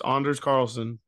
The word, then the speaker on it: Anders Carlson: Carlson game though yeah do you know how they pronounce his name both kickers Anders yeah Anders dude Anders Carlson Anders man it's Anders Carlson with an O Anders Anders it